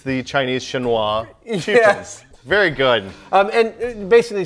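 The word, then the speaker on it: Chinois: you know when you you want to say Chinese and French you say sh yeah so apparently they've phonetically gone with the French it's it's the Chinese shinoa very good um and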